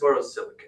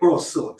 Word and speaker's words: borosilicate: borosilicate. Borosilic, sorry. I always pronounce it wrong.